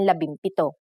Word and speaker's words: labimpito: If a P follows the NG connector, the NG becomes an M, just like in labimpito.